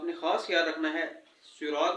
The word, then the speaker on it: صراط: خاص خیال رکھنا ہے، صراط میں صاد نکالنا ہے، سین نہیں، صاد، اور انعمتا میں بھی